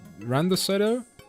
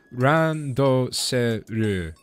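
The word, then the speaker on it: ランドセル: It's a, what is it, a Randoseto? That's gonna sound so cringe if anybody speaks Japanese at all. Sorry, that was my best attempted pronunciation of a word and I said it wrong. Randoseru.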